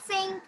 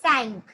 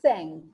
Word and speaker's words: cinq: It's not sink, it's cinq. 5 is cinq.